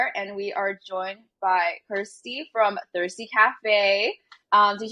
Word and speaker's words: Kirsty: quarantine passion project so my name is Kirsty which the only thing that rhymes with it is thirsty yes this has been